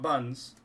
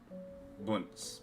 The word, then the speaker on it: BNS: King champion of BS not buns BNS that's how it's pronounced this is mial pretty